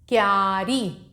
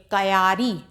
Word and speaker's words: क्यारी: आधा का और या अब इसको आप ये नहीं पढ़ेंगे कयारी कयारी नहीं पढ़ेंगे क्योंकि इसमें आधा का लगा हुआ है तो उसको या के संग मिलाकर आप पढ़ेंगे और कैसे पढ़ेंगे क्यारी फिर प्यार बस्ता जन्म